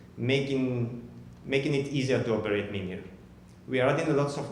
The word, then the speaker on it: Mimir: Mimir, then it's two Mimirs. Yeah, I want to use this slide because I often say Mimir, but the proper pronunciation is Mimir, just like the baby talk for sleeping in Spanish.